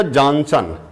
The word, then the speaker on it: Johannsen: देखिए, the term gene coined by, हम पढ़ते हैं इनको बेटा जॉनसन, लेकिन लिखते हैं जोहेंसन।